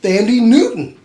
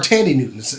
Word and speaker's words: Thandie Newton: I gotta say, and that was Nico Parker, daughter of Thandie Newton. Really? Or Tandy Newton. The H is silent because she's... But yeah, that's Tandy Newton's daughter.